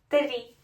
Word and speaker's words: три: Три. But remember R, rolling. R. Три.